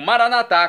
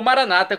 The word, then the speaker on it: Maranatá: E agora, do aramaico, eu clamo Maranatá, como dizemos nós católicos, ou Maranata, como dizem nossos irmãos separados, os evangélicos ou protestantes.